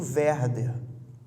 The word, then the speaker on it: Werther: algumas pessoas estão anotando se quiserem anotar a pronúncia correta w é r dhr efeito verba e o que é isso o efeito é